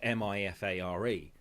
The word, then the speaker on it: MIFARE: And the other, because their more basic card is a MyFair card, MIFARE, and it pronounces it like Nigella Lawson. It goes Mifare.